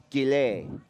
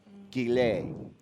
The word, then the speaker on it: Gillet: And Ishmael pronounces his last name Gillet. Gillet.